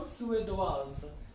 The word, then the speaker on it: Suédoise: Okay, in feminine singular, just add an E, pronunciation will become Suédoise, right?